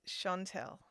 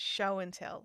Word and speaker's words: Chantelle: But it's Chantelle, not show and tell. It's Chantelle.